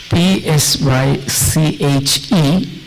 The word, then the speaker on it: psyche: Well, the word is Psyche. It's a Greek word, so psyche. When Greek words are pronounced, the last E is also accented, or it's pronounced psyche.